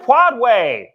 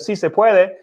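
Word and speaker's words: sí se puede: The Bogotas, reminds me of when she tried to say, si se puede. If you have a track record of saying puede instead of si se puede, and bogada instead of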